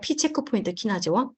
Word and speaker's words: PCHK1: 요걸 어떻게 읽냐면 P, 체크포인트, 키나제, 원이라고 읽어요. 제가 채팅창에 칠게요. 잠깐만요. P 체크포인트 키나제 1.